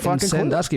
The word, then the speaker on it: Sandusky: this well then like people say that we say it wrong because it's like it's not s-u-m Dusky because it's Sandusky like we say it like sun I don't know man